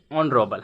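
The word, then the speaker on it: honourable: ऑनरोबल है ना? भले लिखा है हॉनरबल। लेकिन यहां पे एच साइलेंट रहता है ना?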